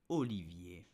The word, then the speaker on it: Olivier: We will learn how to pronounce this beautiful and famous name in France. It's Olivier.